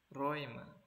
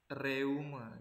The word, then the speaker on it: Räume: Nah, jadi kalau misalnya ada huruf EU, ini huruf A umlaut dan juga U, jadi dikombinasikan dalam satu kata, itu cara bacanya adalah oi. Jadi bukan reume gitu ya, tapi Räume, cara baca yang benarnya.